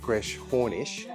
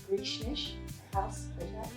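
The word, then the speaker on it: Greshornish House: Uh so we've been pronouncing it Gres Hornish. Can you tell us how you really pronounce it? So it is pronounced Grecish House.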